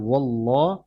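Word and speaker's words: اللَّهُ: আল্লাহু অনেক জায়গায় অনেকে বলে তো এটা হবে ওল্লাহ আর আল্লাহু আহাদ আল্লাহ শব্দটা পাতলা না মোটা হবে মোটা মোটা আওয়াজ হবে।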